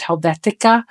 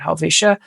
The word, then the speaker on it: Helvetia: I've heard it pronounced Helvetica, which there's no C in the name, but I've seen and heard people call it that, but we call it Helvetia.